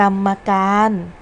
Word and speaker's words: กรรมการ: ค่ะ คำ ที่ 1 กรรมการ อ่าน ว่า กรรมการ สำหรับ คำ ว่า กรรม นัก เรียน จะ สังเกต ว่า มี พยัญชนะ มอ ม้า ตาม หลัง รอ หัน อยู่ เรา จึง อ่าน ออก เสียง คำ ว่า กรรม อยู่ ใน เสียง มาตรา กลม ค่ะ แต่ เวลา เขียน คำ